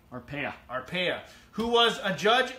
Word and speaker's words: Arpaia: Arpaia. Arapapaia? Arpaia.